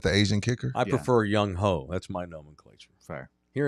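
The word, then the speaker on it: Younghoe: It's Young Ho. Oh, is it the Asian kicker? I prefer Young Ho.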